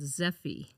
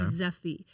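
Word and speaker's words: Zeffy: We have this really cool app that is called Zephy. Okay. And how do you spell that? It's Z E FF Y. Okay. Zephy.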